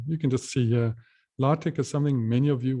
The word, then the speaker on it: LaTeX: of course is just this lartek code or tech and we spell that if anyone has seen that the way to spell it is late latex like this that's lartec or just tech that's a language a